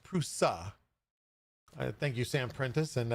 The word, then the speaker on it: Prusa: Next up, we have Prusa in the news, and I found out that I actually pronounced it wrong. It's not Prusa, it's Prusa.